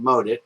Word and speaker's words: Maudite: on their website and he said mod it in his cute little French Canadian accent so that's the way I'm going to pronounce it um from the website